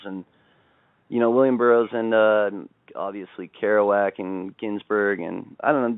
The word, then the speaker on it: Kerouac: Oh yeah, Kerouac. Yeah, Kerouac. I always say his name wrong.